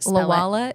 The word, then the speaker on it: Lwala: Lala is spelled L W A L A, right?